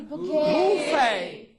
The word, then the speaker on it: buffet: ET, T is there, pronounced as A. For example, buffet, duet, bidet, yes? Corbe, sorbet, S-O-R-B-E-T. Not sorbet, sorbet, buffet, B-U-F-F-E-T. And so on.